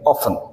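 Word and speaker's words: often: इसमें T silent होगा, हम हमेशा पढ़ेंगे ऑफन।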